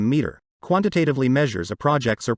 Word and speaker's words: METRR: you want to know integrated project program management maturity and environment total risk rating pronounced ip2m meter quantitatively measures a Project's